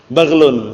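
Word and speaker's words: بغل: Bacanya yang benar, nanti keliru bahaya nanti. Lebih kecil daripada apa? Baghlun. Kalau zamannya bighal. Paham ya? Jangan keliru.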